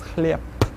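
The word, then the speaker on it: хлеб: The word chleb will actually be pronounced as chleb, not spelled, but pronounced. Take a look at the next one.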